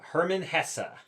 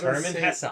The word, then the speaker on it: Hermann Hesse: But today's book is Sedartha by Herman Hessa. Is that how you pronounce that? It is. I looked it up. Nice. It's Herman Hessa.